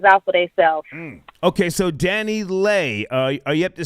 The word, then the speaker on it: DaniLeigh: Oh, Danny Lei.